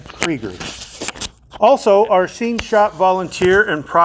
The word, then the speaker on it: Krieger: When I read the name Krieger, I see the name Kruger because that's the way it's spelled. Cannon, I am so sorry. I've done that to you time after time. So, Cannon Krieger.